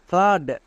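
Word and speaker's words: flood: করছি নেক্সট আরেকটি দেখো যেমন ফ্লাড এখানেও ডবল ও আছে এবং এর ঠিক পরে ডি আছে তার মানে কি ডবল ও এর জন্য আকার সাউন্ড করব তাহলে কি হবে এফ L double O ডি ফ্লাড আমরা সবাই জানি টি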